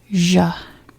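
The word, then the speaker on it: ž: the check over it's which is pronounced ju so think like the word treasure or pleasure the sound in the middle treasure like that and that's it that's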